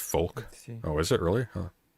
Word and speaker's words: Volk: Volk is pronounced folk.